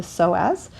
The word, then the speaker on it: psoas: In other countries and other languages, they pronounce psoas psoas. They pronounce the S. In the U.S., we tend to just call it the psoas.